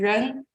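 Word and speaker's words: 人: We have a character in Chinese pronunciation ren, which means ordinary person.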